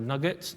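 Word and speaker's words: NuGet: it will output as a new get package or nugget depending on your pronunciation and it will upload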